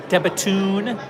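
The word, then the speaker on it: De Bethune: you Breitling, Tudor, IWC, Debatoon, and that's how you pronounce it, by the way. I got official word from them that it's Debatoon.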